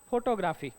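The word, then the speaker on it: photography: good तुम्ही कस वाचाल फोटोग्राफी बरोबर स्पेलिंगचा विचार बट इट्स क्चुअल pronunciation is फोटोग्राफी कसा आहे फोटोग्राफी फोटोग्राफी फोटो ग्रफी आता ग्र वर इथे काय आहे स्ट्रेस आहे फोटोग्राफी कसा आहे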